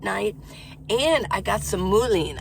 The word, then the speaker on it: mullein: I think that's how you pronounce it, Mullein. I know the plant very well because it was all over the place in Flagstaff. It's called mullein or mullein. Yeah, it's got to be mullein.